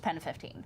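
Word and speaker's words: PEN15: I'm like, is it penis or is it Pen 15? Well, Like, what's the I'll actual explain name? it to you. What's the name of the show? Well, it would be pronounced Pen 15 Okay.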